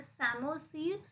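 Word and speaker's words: psammosere: सेमो सर ठीक है P silent so इट इ सेमो सर सेमो सर क्या है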